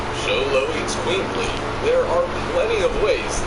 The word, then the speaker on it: Xoloitzcuintli: be able to pronounce, Xoloitzcuintli, there are plenty of ways this pooch is one of the rarest in the world. Xolo, that's how you say it. So Xoloitzcuintli, if I've got it right.